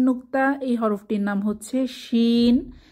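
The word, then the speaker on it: شين: এরপর শিন, 3 দাঁতের উপর 3 নুক্তা, এই হরফটির নাম হচ্ছে শিন। শিন জিহ্বার মধ্যভাগ তার বরাবর উপরের তালুর সাথে লাগিয়ে আওয়াজ ছড়িয়ে পড়বে, সা সা আওয়াজ মুখের চারপাশে ছড়িয়ে পড়বে, এটাকে তাফাশি বলে।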